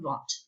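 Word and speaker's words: Wundt: for a little bit is this guy wilhelm vaughn the ws are pronounced like these in case you were wondering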